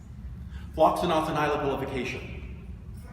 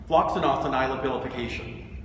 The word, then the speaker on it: floccinaucinihilipilification: how to pronounce that floccinaucinihilipilification it took me a half an hour to learn how to say that without tripping over floccinaucinihilipilification together the H in the middle is silent what's another nighlok vilification